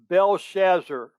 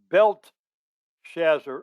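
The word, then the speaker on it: Belteshazzar: his chaldean name is t is silent and the e is silent belshazzar that means bell will protect him some people pronounce it belt shazar or belt to shazzar and it's the chaldean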